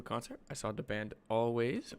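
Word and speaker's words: Alvvays: I saw the band always or all VES if you pronounce it like I do because it's spelled with two v's and uh it was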